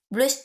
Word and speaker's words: plus: Plus tard. Là, je ne prononce pas le S. Ok, je vais dire juste plus tard.